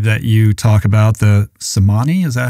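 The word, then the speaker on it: Tsimane: or this tribe that you talk about, the Samani, is that how you say it? Yeah. Chimane.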